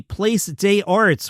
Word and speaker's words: Place des Arts: He'll be at the Place des Arts, which is how you pronounce it.